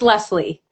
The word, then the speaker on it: Laessle: It's not spelled anything like it's pronounced. It's Leslie. Leslie.